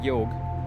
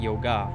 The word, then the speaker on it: yoga: word and i say yog because it's it's yo it's not yoga the a is actually more of an uh sound it just um you know elongates the g the last syllable of